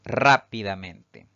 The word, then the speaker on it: rápidamente: Si dividimos en sílabas, esta palabra tiene 5 sílabas. Fíjense que la mayor fuerza de voz al pronunciarla recae en la sílaba siguiente a la denominada antes de la antepenúltima. Por lo tanto, se considera una palabra sobresdrújula y llevará tilde siempre.